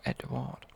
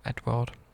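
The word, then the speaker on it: Édouard: Edward. I call it EDOUARD because it's not spelled like Edward.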